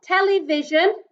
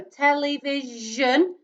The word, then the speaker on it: television: for this week is the j sound spelled with an s so remember like television you hear the je sound so television hey that is your